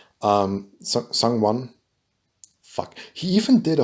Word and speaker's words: Sungwon: does voice acting, which I mean it's ProZD, Sungwo. Sungwon. Fuck. He even did a whole skit about how to pronounce his name.